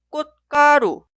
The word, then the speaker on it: 꽃: Esta sílaba suena 꽃, 꽃, 꽃. Nunca suena 꽃, tampoco 꽃.